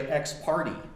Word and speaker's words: ex parte: of them one is how you pronounce ex parte young i think it's ex parte young how many of you think it's ex parte ex parte a surprising number of supreme court justices say ex-party i think it was breyer i mean because guys oh it's not a patrician boston accent it is an ex-party young what are you talking